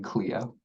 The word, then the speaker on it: Cleo: Also, just side thing, I pronounced my name Cleo.